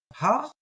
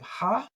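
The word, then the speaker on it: העיר: Now remember with that aleph, the ayin, it's the sound, that guttural sound. So ear. A lot of people will treat that as silent, and they'll do something like ha'ir. I pronounce it. So ha'ir. You're gonna hear that little ha'ir.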